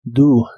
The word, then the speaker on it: do: o qué puedes hacer la o de esta palabra se pronuncia como u do do y usarás el